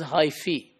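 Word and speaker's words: hyphae: If you add e at the end becomes plural and is pronounced as hyi.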